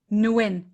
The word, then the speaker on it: Nguyen: ted's last name yeah uh you said gwyn nguyen nguyen thank you nguyen good for you nguyen